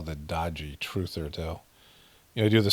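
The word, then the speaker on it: Daaji: It means like respected uncle or something in India, but it also means, dodgy, like it's spelled D-A-A-J-I, but it sounds like dodgy, D-O-D-J-Y.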